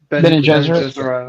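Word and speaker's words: Bene Gesserit: I feel like a really adventure-y, magic, like mystic feel with the Ben Gesserit. How do you say that? Ben and Gesserit.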